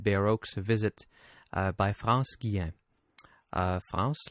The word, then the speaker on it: France Guillain: France I'm going to I'm going to pronounce her name in the French way if that's all right because I'm a little bit more comfortable.